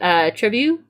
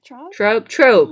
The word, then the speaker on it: Trobe: How do you say your name? Trebu? Trobe. That's it, right?